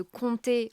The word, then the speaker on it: compter: Et la prononciation par contre de compter, on entend pas le p qu'on écrit pourtant.